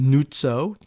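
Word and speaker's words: Nuzzo: N U Zo director or could be Nutoo. If you pronounce it, they pronounce it the Italian style.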